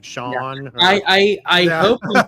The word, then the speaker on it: Shawn: It's pronounced Shawn. Okay. Hey, all right. Okay. So I greatly apologize. We've been calling you Shane for how long?